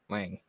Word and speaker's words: Leung: Tony Leung? Lang? Lang.